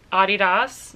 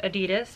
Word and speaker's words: Adidas: here I pronounced it Adidas most Americans pronounce it Adidas but I worked for Adidas for quite a while so I pronounce it the rest of the world way you do you I'm